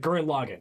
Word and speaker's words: Gurren Lagann: gurren lagann guerin lagann gurren lagann okay just i thought i had to pronounce right but a lot of people on the internet call it current login so i i know